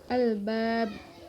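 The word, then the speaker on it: الألباب: Albab itu ada mad aridli sukun karena huruf mad yaitu ba fathah bertemu dengan alif berada sebelum huruf yang diwaqafkan di akhir kalimat. Dibacanya panjang selama 2-6 harokat. Lalu ada huruf ba yaitu qalqalah kubra karena hurufnya itu berada di akhir kalimat sehingga diwaqafkan dan dibaca secara memantul.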